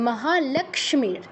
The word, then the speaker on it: লক্ষ্মী: মহাক্ষ্মীর বিজয়া সর্বতা স্থিতা লক্ষ্মী এটা অনেকবারই এসেছে ক হসন্ত স তিনটা অক্ষর যুক্ত আছে তো তিনটারই উচ্চারণ করতে হবে মহালক্ষ্মীর মহাক্ষ্মীর বিজয়া সর্বত স্থিতা